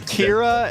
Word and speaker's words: Kira: For me, Her name's Kira and it rhymes with Vera, so it's kind of like banning the sounds of two different heroes.